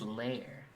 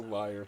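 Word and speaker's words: lair: layer what that's just it's pronounced layer i'm never saying that it's a liar till the end of time yeah i'm down with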